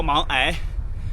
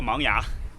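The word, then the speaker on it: 芒崖: 地名读作芒崖，这个是根据本地的蒙古语的发音谐音而来的，但是官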